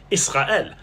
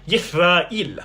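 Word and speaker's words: ישראל: In modern Israeli Hebrew, Israel is typically pronounced something like Yisra'el, but in Biblical Hebrew, it was pronounced completely differently, something like Yisra'il.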